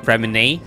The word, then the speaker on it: Freminet: And I also just realized in the past few days that Freminet's name is actually called Freminet, not Freminet. So moving forward, I'm gonna call it with the correct pronunciation, which is Freminet, because I don't speak French.